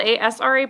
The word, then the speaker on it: Asra: So for those of you who don't know me, it's spelled A-S-R-A, pronounced like U-S-R-A, so Asra.